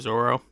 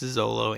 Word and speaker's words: Zolo: to the anime is when the mispronunciation took like a stronghold and everyone started calling him Zoro. But that doesn't make any sense to me. If you go back and read the actual books, it's Zolo.